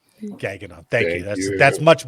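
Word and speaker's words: Gagnon: g n o n gagnan I know that's not how you pronounce it but it's probably Gan gagon g a gag n gaging on thank you that's that's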